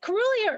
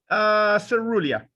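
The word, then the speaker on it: caerulea: Is it Carulia or Cerulia? Cerulia. Oh, okay. I always had a hard C like Latin, but okay.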